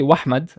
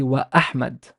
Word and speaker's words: Ahmad: something or not Yani if I say the name very common name Ahmad I don't say wahmad I say Ahmad I I emphasize the glottal sound of the glottal